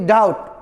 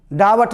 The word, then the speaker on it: doubt: BOMB bomb नहीं bomb, TOMB टॉम नहीं टम टॉम, COMB काम बोलेंगे काम नहीं, और टी के पहले है DOUBT डाउट, डावट नहीं।